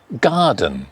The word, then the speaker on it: garden: We've got garden, garden, garden, garden, paper, under.